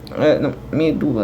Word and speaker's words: medula: Apesar da sílaba tônica ser no du, não tem acento não, pô. É uma paroxítona, e paroxítona terminada em A não vai acento.